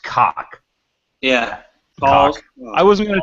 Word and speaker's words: COC: Pretty sure it's I'm pretty sure it's pronounced cock.